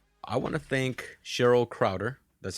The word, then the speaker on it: Krauter: I want to thank Cheryl Krauter. That's how you say your last name? That's how you pronounce it, Perfect.